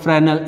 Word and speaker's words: Fresnel: So, Fresnel's distance, F-R-E-S, Fresnel, S is silent, Fresnel's distance.